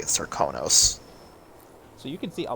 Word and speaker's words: Serkonos: The Dunwall accent says Serkonos, while in actual Karnaka they say Serkonos.